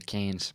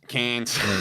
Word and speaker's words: Cairns: Cairns. Cairns.